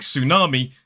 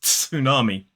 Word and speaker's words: tsunami: say usually is because in a word like tsunami the t is silent so it's not tsunami that doesn't work at